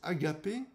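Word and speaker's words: ἀγάπη: Cet amour, qui est associé au mot grec qui se prononce agapé, est le moins calculateur de tous et donc le plus difficile à atteindre.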